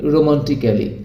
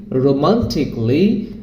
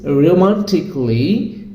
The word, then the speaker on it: romantically: B pronounced like মিউজিক্যালি, রোমান্টিকলি, লজিক্যালি, অ্যারিস্টিক্যালি or physically, critically। তার মানে আমরা কি করছি, আগে যেটাকে বলতাম ক্যালি, এখন সেটাকে বলবো ক্লি। Kelly, it should be cli, that means romantically, musically, logically, artistically, physically, critically.